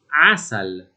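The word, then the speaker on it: عسل: Certo, all'inizio di una parola con un po' di esercizio non è impossibile pronunciare questo suono, pensiamo ad esempio alla parola araba che significa miele che è 3asal, non impossibile direi, è certamente più difficile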